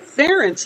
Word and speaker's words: Ferenc: late to matter but I think pharynx is pronounced ference in Hungarian oh that makes sense